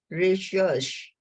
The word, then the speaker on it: recherche: Research was first known in the French language in 1577. They pronounce it recherche, and it means to go about seeking.